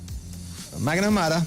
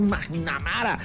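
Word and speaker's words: McNamara: Y salieron después los periodistas que un diplomático de la magnitud del señor Magnamara y se pronuncia Mac y sigue amara, o sea, que le haya atendido Marco y le diga la dama de hierro es un honor, por favor.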